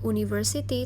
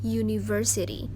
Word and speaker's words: university: Walaupun berawalan huruf vokal, u, tapi dia dibacanya bukan university, tapi university. Suaranya seperti huruf Y, yang mana huruf Y itu termasuk huruf mati, makanya dia pakai E.